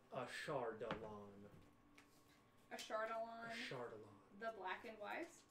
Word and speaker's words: Ashardalon: If we could phonetically. Ashardalon. Phonetically. Ashardalon.